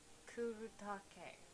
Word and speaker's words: Kuretake: Ooh, it's Kuretake. Kuretake. You know, try to pronounce Japanese properly.